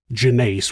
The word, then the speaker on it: Jeannace: This is Monsters Jeannace (pronounced Jen-ACE) was born in late 1941 or early 1942.